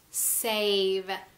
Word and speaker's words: save: Then we have save.